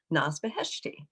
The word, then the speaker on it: Naz Beheshti: I'd like to welcome our guest today, Naz Beheshti. Hi, Naz. Hi, Christine. I hope I'm pronouncing your name right. Oh, you pronounced it perfectly.